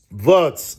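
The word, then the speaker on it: Wirtz: Verts. I had to consult my son to give me the right pronunciation.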